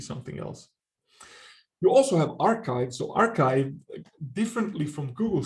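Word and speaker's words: arXiv: cooler i guess uh but it's yeah it's pronounced archive hosted by cornell university and then the third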